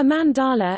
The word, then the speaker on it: mandala: A mandala, emphasis on first syllable, Sanskrit mandala, mandala, literally, circle, is a spiritual and ritual symbol in Hinduism and Buddhism, representing the universe.